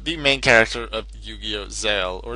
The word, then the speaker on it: ZEXAL: Zale, or Zexal as it's called in the English version, the English dub. I still prefer Zale. I like that the X is not to be pronounced.